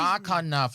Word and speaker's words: Bakanov: Bakanov, like baklava in November.